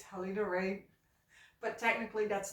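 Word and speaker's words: Halina Reijn: in that way but it's not helina Regin it's also not helina rain it is helina rain so R I have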